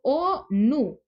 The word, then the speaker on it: ONU: pero también es acrónimo, porque si se fijan yo lo leo ONU. Tengo dos sílabas. Entonces yo no dije ONU, sino que al decir ONU, esto es un acrónimo, ¿sí?